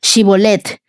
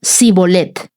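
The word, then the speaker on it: שיבולת: que pronunciara la palabra shibolet. Si era de Efraín, diría sibolet, porque la gente de Efraín le cuesta pronunciar bien esa palabra.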